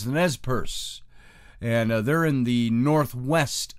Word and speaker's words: Nez Perce: country and we're going to talk about the nez perce is the way it's pronounced i always say nez per se because it's got that accent point and i